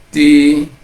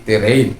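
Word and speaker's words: τηρεῖν: Nah, ini seperti apa kalau kita tidak hati-hati, karena itu epsilon ketemu iota, jadi itu tirin. Kadangkala karena kalau kita tidak waspada, kita akan mengikuti terein, ya. Tapi kalau kita sudah itu epsilon ketemu iota, maka dia akan dibaca i, ya, demikian.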